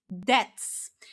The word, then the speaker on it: debt: And that is simply debts. And uh the incorrect pronunciation very often is when people say depths. So, they actually pronounce this B. But remember, in this word, this B letter is silent.